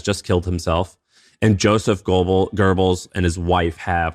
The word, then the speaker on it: Goebbels: Goebbels. That's how you pronounce Goebbels.